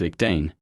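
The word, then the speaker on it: Ich dien: A ribbon below the feathers bears the German motto ICHDN, pronounced ICDN, meaning I serve.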